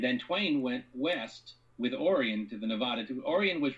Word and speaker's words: Orion: a microcosm of it his brother orion which the family pronounced orion um campaigned for lincoln